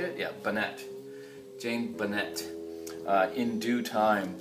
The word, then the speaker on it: Bunnett: Yeah, Bunnett.